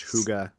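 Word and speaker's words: hygge: the hashtag for mine is actually pronounced Huga well I mean just do lives on Australia oh it is I choose pronounce Huga Yeah the more you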